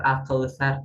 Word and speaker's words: Al-Kautsar: Padahal al-kautsar ya dibacanya itu menggunakan sa, bukan sya, bukan sa, bukan so, tapi sa, al-kautsar ya.